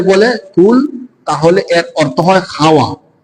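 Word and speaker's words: قُلْ: থেকে কুল আলু থেকে কেউ যদি কুল শক্ত করে বলে তাহলে হল বলা বলুন আর যদি নরম করে বলে কুল তাহলে এর অর্থ হয়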